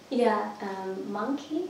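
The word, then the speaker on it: Monki: Monkey, have you ever been there? No. You love it. Monkey? Yeah, it's spelled M-O-N-K-I.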